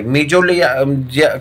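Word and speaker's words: mesoglea: मेजोलिया secreted by, मेजोलिया कहीं कहीं पे हिंदी में पढ़ेंगे ना मेजोग्लिया लिखा गया है, मेजोलोया पढ़ते हैं इंग्लिश में मेजोलोया ठीक है, जी को साइलेंट कर देते हैं यहाँ पे मेजोलोया, और ये हिंदी में मेजोग्लिया लिखा गया।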